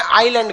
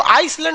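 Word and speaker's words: island: द्वीप को इंग्लिश में आइलैंड कहते हैं। क्या कहते हैं? आइलैंड। आइलैंड में ना एस साइलेंट रहता है। इसको आइसलैंड नहीं पढ़िएगा, आइलैंड।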